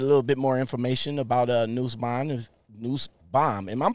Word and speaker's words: Nussbaum: you get a little bit more information about Nussbaum. Am I pronouncing that right? Nussbaum, Yes, you are.